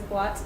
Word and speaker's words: boîte: Same thing for boîte, B-O-I accent circonflexe T-E. Without the accent it would make boîte, but there's an accent, so it's boîte, because O and I makes wa, boîte.